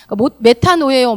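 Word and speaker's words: μετάνοια: 헬라어 발음이다 보니까 메타노예요, 메타노이아 그러면 회개라는 뜻으로 알고 계시면 돼요.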